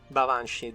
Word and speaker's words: Baobhan Sith: Then the second I'm actually very tempted by Baobhan Sith, but Baobhan Sith technically is how it's said, but there is another.